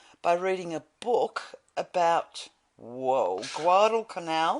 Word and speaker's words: Guadalcanal: Anyway, So my son actually put himself into the state of war by reading a book about Guadalcanal. Guadalcanal.